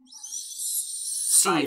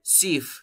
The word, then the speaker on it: sieve: Sieve. Simon, Simon. Sieve, se escribe sieve. Sieve. Se escribe sieve, pero se pronuncia sieve.